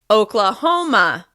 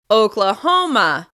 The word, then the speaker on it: Oklahoma: Next, Oklahoma. Oklahoma. This state is stressed on the third syllable. Oklahoma. Oklahoma.